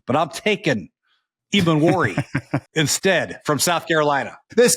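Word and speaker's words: Emmanwori: Eamon Wari. It's an I at the end there. Eamon Wari.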